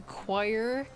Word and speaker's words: choir: I almost want to go back to choir. The word choir does not look like it should be pronounced like that. Choir. Like why is there a C in choir?